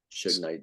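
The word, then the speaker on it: Suge Knight: his name Su Knight Su Knight that's okay S Knight S Knight like sugar like sug KN oh yes yes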